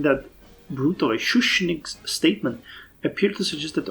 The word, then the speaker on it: Schuschnigg's: However, Schuschnigg's Schuschnigg's, I was mispronouncing that brutally. Schuschnigg's statement appeared to suggest that Austria is open